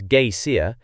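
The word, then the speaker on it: Geysir: ft above the swell the Geer a word the icelanders pronounce Gaya and which means Fury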